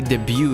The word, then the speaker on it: debut: I'm pretty sure the debut is like T is silent.